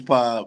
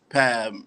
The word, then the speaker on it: PAB: Yeah, it's PAB. A lot of people think it's PAB and shit like that.